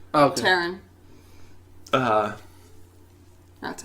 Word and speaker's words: Taron: Tarin? Taron. Oh, okay. Taron.